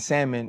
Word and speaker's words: salmon: Um, a thing I have a much harder time telling my loved ones and family members about is that the L and salmon is silent.